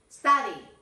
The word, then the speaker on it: study: Ojo ahí, no estudie, ojo con la pronunciación de study. Study.